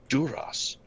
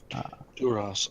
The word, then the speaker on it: Duras: Duras. Oh, that might be why they're No, out. no, so you got the pronunciation wrong. You got to kind of really bug the eyes out as you say it.